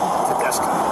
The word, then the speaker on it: Tedesco: How is that how you pron pronounce that? Tedesco.